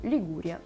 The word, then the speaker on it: Лигурия: говорить про лигу ли на итальянском языке она так и произносится лигурия так и производится административной